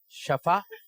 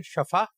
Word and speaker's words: شفا: ہیں شفا اور کچھ کہہ رہے ہیں شفا. اس میں سے ایک صحیح ہے. جنہوں نے کہا ہے شفا غلط، جنہوں نے کہا شفا صحیح ہے. تو صحیح تلفظ کیا ہے؟ تو آپ نے جا کے بولنا ہے کہ اللہ تعالیٰ آپ کو شفا عطا فرمائے. تو یہ جملہ بولا جائے گا شفا.